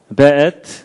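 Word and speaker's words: וְאֵת: 베엣. 요게 이제 W인데도 이게 독일식 발음을 해서 베 이렇게 읽는다고 합니다.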